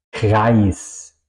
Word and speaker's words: Kreis: Eso sería ai en alemán. Ai, ¿ok? Ai. Como por ejemplo en Eis o en Kreis. Eis, helado o hielo. Kreis, Kreis es un círculo.